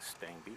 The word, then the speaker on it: Stangebye: doesn't look like like Stang be but that's how it's pronounced the two e in this last name were pretty much silent miles player was in